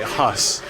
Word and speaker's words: Haus: I've got the German right, Haus. You pronounce it sounds the same as the English word, and I find that